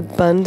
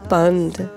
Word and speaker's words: Bhand: is that the word Bhand, it keeps repeating over and over again. And what is Bhand? You hear there's a slight inflection. It's not just Bhand, but Bhand, where you're making a sound and the sound drops.